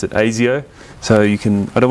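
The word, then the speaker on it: Asio: for anyone who's been wondering that's how you pronounce it AIO so you can I don't want to hear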